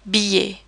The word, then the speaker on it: billet: And then we have the I double L sound, billet. We almost pronounce it like an English Y sound, and we pretend the double L's are not there at all.